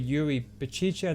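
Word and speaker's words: Yuri Berchiche: him just yet so i'll definitely go with yuri baciche then that's how you say his name a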